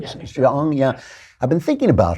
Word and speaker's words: Jeong: How do you pronounce her name? Sarah Jeong? Jeong, yeah.